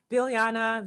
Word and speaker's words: Biljana: So, as you said, my name is, I will pronounce it how I pronounce it, Biljana.